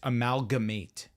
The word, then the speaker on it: amalgamate: you were close amate no it's amalgamate amalgamate that extra syllable matters yeah it's all right